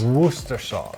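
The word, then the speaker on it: Worcestershire: you threw in there woer sauce woer sauce that's I pronounce it not how you read it on the bottle ask the people that live in Worster because it's actually a place it's also got anchovies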